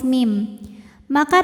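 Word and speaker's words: مِمَّا: Mim kedua dihukumi dengan ghunah musyaddadah karena mim bertasydid. Cara bacanya dengung. Bunyi m tahan sampai ada suara masuk hidung. mimma.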